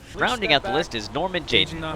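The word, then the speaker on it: Norman Jayden: Rounding out the list is Norman Jaden, or as he pronounces his own name, Naman Jaden, as in nom.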